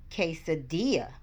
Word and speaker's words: quesadilla: Miss Hempstead shared the video of a quesadilla that she made. For this word, the QU sound sounds like a K.